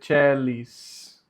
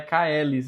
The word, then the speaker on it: caelis: Perceba aqui que não é Caelis, a pronúncia é celis, porque quando o A ele vem próximo da letra E, ele fica mudo. E quando o C está junto com o E, ele tem som de Tché.